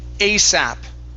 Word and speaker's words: ASAP: up very good okay this word here is pronounced asap asap asap okay now it stands for as soon as possible but when we say that we say asap okay okay asap all